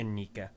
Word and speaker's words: Inika: Is it Anika? Anika? Uh, it varies time to time, but the official pronunciation is Okay. Inika.